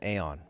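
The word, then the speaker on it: Aion: Back in the day, I played a game called Aeon, or Ion, however you want to pronounce it.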